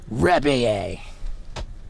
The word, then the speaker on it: Rebillet: bring to you Marc Rebillet. First question, did I pronounce that right? You pronounced it like a champion and a professional. I love that. Like a Frenchman, honestly.